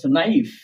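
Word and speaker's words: knife: কিন্তু অলরেডি বুঝে গেছ যখন কে এর পর এন থাকবে কি থাকবে এন লেটারটি থাকবে তখন আর কে উচ্চারণ হবে না এবার এক্সাম্পল দেখি এখানে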